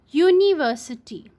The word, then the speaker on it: university: not a vowel sound like for example University so here you is a bubble word but it does not have a bubble sound that's why we